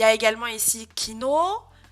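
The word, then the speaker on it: きのう: Il y a également ici kino, kino. Et je vous ai également mis byoin, et pas byoin. Byoin. Donc je répète, Ohayo, kino, byoin, byoin. Ces 3 mots seront allongés avec un U.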